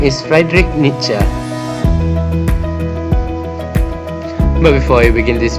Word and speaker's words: Nietzsche: The correct pronunciation of Nietzsche is Nietzsche.